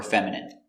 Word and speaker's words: feminine: Words ending in i can have different pronunciations. All of these have the sound in. Imagine, examine, engine, discipline, feminine, and masculine.